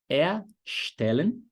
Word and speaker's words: erstellen: Então, por exemplo, o verbo erstellen tem um prefixo, que é esse ER no início aí. Erstellen. Só que a sílaba tônica não fica em cima de er, fica em cima da segunda letra E.